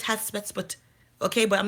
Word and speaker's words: Hatshepsut: I have Hasput Economics, right? My economics page, or Hasput for my Kanye, that's not how you say it. I know it's Hatsput, okay, but I'm not Egyptian.